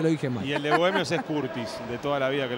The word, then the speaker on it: Curtis: jugando en bohemios pero es un tema de pronunciación en lugar de cartis en este caso hace una a todo el inglésa no el apellido Curtis la u se pronuncia a en inglés claro pero en este caso